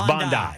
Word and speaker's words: Bondi: I know it's not Bondi as in pan, but it's Bondi. It's Bondi with a hard eye.